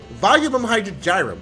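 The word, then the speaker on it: Volumen Hydrargyrum: you just charge their mp by 20 now volume hydrogen gyrum that is how you say it um the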